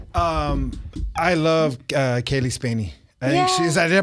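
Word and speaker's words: Spaeny: what's up Garcia um I love uh Kaylee spany I she is did I pronounce her name right yeah is she's a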